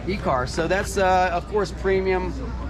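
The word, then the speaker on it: Ekar: So how do you pronounce this? E-car? E-car. E-car.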